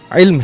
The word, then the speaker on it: علم: قاف کا بھی مسئلہ آ رہا تھا۔ فلسفہ علم نہیں ہے، علم ہے۔ اور اسی طرح 2-4 بچوں نے یہی